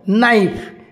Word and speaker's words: knife: उच्चारित हुए ना केम देख नाइफ KNIFE ये जो नाइफ बोले आम कहे नाइफ रे के हूँ साइलेंट लेटर सुनामी आम तो समझते